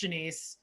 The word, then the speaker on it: Janice: you my first name i know it's spelled like janice but i swear it's pronounced janiece my mom tried to